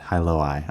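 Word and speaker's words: Hailuo: hey Halo hu huo how do you pronounce h AI hi I would not have expected that hyoi okay all right so now we know so this hyoi AI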